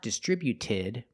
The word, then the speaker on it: distributed: When we add ed, the T at the end is between vowels, so it's a fast D. Not distributed, but distributed. Distributed. Put the stress on the second syllable only.